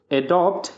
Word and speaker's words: adapt: एडॉप्ट यानी अपनाइए, इसी तरह एक वर्ड है एडाप्ट, उसकी स्पेलिंग होती है ADAPT, एडाप्ट। एडाप्ट का मतलब होता है किसी के अनुसार ढलना या किसी को अनुकूल बनाना।